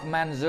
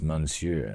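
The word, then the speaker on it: monsieur: eat a a croc manzour or a thin goopy Rohan stew? It's pronounced monsure.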